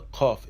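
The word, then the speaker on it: ק: The kof is pronounced as a k.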